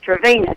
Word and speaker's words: Trevena: Well, now, if I'm not mistaken, they spell that Trabena, but it's Trevena, Tre.